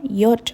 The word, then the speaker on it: ja: ইয়া এস রেগনেট, হ্যাঁ বৃষ্টি হচ্ছে। জার্মানরা জেকে কিন্তু জে বলে না, ইয়ট বলে, সুতরাং ইয়া এস রেগনেট, হ্যাঁ বৃষ্টি হচ্ছে।